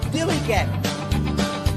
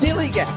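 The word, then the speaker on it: DILLIGAF: Dilly gap. That's spelled D I L L I G A F. Dilly gap.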